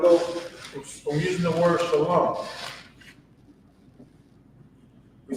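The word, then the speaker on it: שלום: But this is Shalom. Notice that it's not Shalama, because in ancient Hebrew, we have these lines underneath the characters to pronounce, for its pronunciation of the word.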